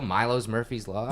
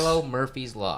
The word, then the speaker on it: Milo Murphy's Law: Milo Murphy's Law. It is. So I've got a friend that works on the show with me. I always say the name wrong because I'm like, yeah, Milo's.